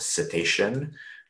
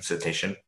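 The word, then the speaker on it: CETEIcean: And then another tool, it's called, this is pronounced cetacean, just like the animal that swims in the ocean, or the types of animals that swim in the ocean, cetacean, which is a JavaScript library.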